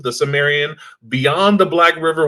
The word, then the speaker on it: Cimmerian: we have and I asked D how to pronounce his name, and then I just completely Cimmerian, Cimarron, Sumerian? Cimmerian.